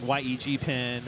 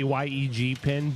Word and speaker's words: YEGPIN: Trevor is it you you've been saying yeg pen or yeah is there a am I been saying it wrong is no either remark correct okay all right most people will say yeg pin but the uh I guess here for this tournament it just sounds better if we call Yankton